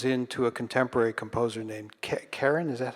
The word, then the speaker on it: Keren: So he starts with Bach, and then he goes into a contemporary composer named Karen.